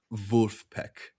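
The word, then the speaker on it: Vulfpeck: So, Vulf Wolfpack, like how a German would say Wolfpack. Wolfpack, but it's like vet phonetically spelled out. Vulpek.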